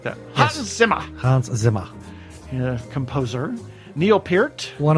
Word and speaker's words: Hans Zimmer: Hans Zimmer. And you have to say it like that. Yes. Hans Zimmer.